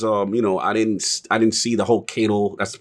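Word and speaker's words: Caiatl: was excited because I didn't see the whole Kato. That's the pronunciation of her name. Keitel.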